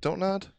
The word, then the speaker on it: Don't Nod: Don't nod. It is Don't Nod. Has I heard somebody pronounce it Don't Nod the other day, and I wanted to punch him.